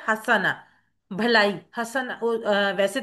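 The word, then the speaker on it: حسنة: बार आया है हसना हसन का मुन्नस है हसना भलाई हसना वैसे तो इसको हम हसनत भी पढ़ते हैं लेकिन एक्चुअली अरबी की जब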